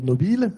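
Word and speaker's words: Nobile: un italien qui s'appelait nobill je le prononce à la française et il s'est écrasé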